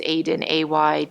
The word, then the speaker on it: Aydin: It's the Turkish spelling, and the last name is Aydin, Aydin.